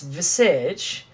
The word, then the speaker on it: Visage: Again, it's Visage. It's French pronunciations.